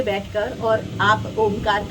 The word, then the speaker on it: ओम: तो ओम का जो उच्चारण है इसे 3 भागों में हम करते हैं, अकार, उकार और मकार।